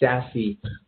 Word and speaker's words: SASE: And furthermore, at the end of 2019, Gartner put out this new framework called Zero Access Service Edge, pronounced SASE.